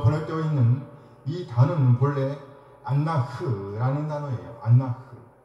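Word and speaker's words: אֲנָךְ: 다림질이죠 다림줄입니다 담임줄이라고 보낼 때가 있는이 단어는 본래 안나흐라는 단어에요 여기 흐라는 단어는 히브리어 알파벳 카프라는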